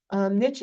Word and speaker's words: niche: And so niche, and I always pronounce niche with an invisible T for the reason on the left.